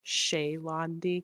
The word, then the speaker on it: She'landi: i uh i really i always say shalondi because i'm lazy but i always want her to be pronounced like shay londy because it sounds more elegant but i'm always lazy